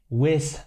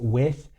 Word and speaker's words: with: With hat er da gerade gesagt. Ich muss hier eben schon mal Pause machen. Das machen sehr viele deutschsprachige Menschen meiner Meinung nach. Das Wort heißt with, also mit TH am Ende, und da muss man die Zunge halt zwischen die Zähne stecken.